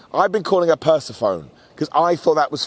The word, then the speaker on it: Persephone: Persephone, there we go. Of course, I know. People get mad. You got the name wrong.